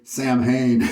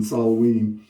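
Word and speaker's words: Samhain: any more labels for they actually say sam Hayne instead of the true pronunciation salaween and there's history behind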